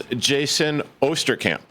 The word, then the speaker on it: Jaysin Osterkamp: And the gentleman to my left right here, this is Jaysin Osterkamp.